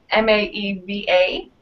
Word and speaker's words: Maeva: favorite and that is Maeva which of course rhymes with Ava and it's ma ev8 it's a French form